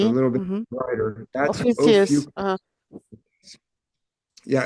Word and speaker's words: Ophiuchus: That's Ophiuchus. Yeah, it's from a Greek word. It can be pronounced a couple different ways. Some people say Ophiuchus, and you're from Bulgaria, which is closer to Greece than I am.